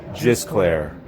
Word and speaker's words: Gisclair: So obviously we've said this is Travis Gisclair, if you did not know. And we'll say that one more time. Travis Gisclair. Pronounced with a J, spelled with a G.